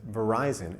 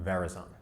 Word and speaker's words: Verizon: But consider how much money that company had to spend to educate consumers that it's Verizon and not Verizon.